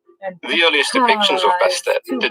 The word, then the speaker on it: Bastet: goddess but she was originally known as bess and it wasn't until years later that the t at the end of her name was even pronounced the earliest depictions of bastet did not show her